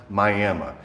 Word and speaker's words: Miami: It's spelled like Miami, but you pronounce it Miami.